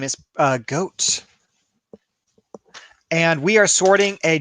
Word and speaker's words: Godt: Ram says your mom reminded me it's pronounced goat. No. Yes, it may sound like it's like a mammal, but actually the mammal sounds like me.